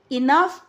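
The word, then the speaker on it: enough: इसे हम दो पढ़ेंगे इनफ इनफ की जो है आई एन U double F इनफ पढ़ते हैं और इसकी सेम साउंड है पफ बाऊ काऊ ठीक है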